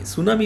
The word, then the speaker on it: tsunami: Tsunami is a Japanese word, and the T is silent, and we call it tsunami.